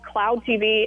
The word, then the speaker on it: Klowd TV: It's called Cloud TV. It's spelled a little weird, KLOWD TV.